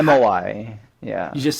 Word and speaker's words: MOI: It's MOI.